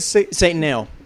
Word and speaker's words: Satanael: And then I remember when that single came, I was like, Satanael? Yeah. I didn't know how to say it right. Right. And How do you say it? Satanel. Satanel. Got it.